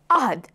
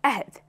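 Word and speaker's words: عهد: It's originally Arabic, and in its original language, it's pronounced ahd. In Urdu, it's pronounced ahd.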